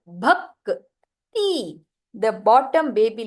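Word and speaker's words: ಭಕ್ತಿ: So sthala, rakta, rakta, bhakti. So if you see my pronunciation, the k is read half. It is not read as ka. It is read as k. Bhakti.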